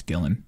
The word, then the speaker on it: Gillan: hope I pronounced her is it Gillian or Gillan it's Gillan Gillan hey look at me